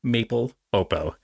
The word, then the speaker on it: Maple Lopo: The pronunciation Maple Lopo rhymes with maple, so Maple Lopo.